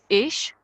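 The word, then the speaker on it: ich: I is ish.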